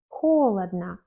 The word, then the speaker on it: холодно: Souvent, dans les adverbes, comme холодно, холодно, première lettre O est accentuée, mais la fin n'est pas accentuée, donc on prononce comme A, холодно.